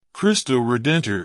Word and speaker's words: Cristo Redentor: crystal redent is a Portuguese pronunciation the English name that